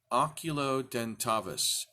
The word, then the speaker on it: Oculudentavis: And we have called it Oculudentavis. Oculudentavis. The name is complicated. How many syllables is that? Oculudentavis. Only 6 syllables, but it's kind of tough to pronounce.